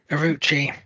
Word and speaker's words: Orochi: spelled O R O chi or roi. Orochi. Orochi. Orochi. Orochi. No, it's pronounced Orochi in the anime.